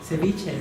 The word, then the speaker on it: ceviche: Ceviche.